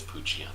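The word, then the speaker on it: Poochyena: you look at it in Japanese, it is Puchiana. Oh, Puchiana. That's how you pronounce it.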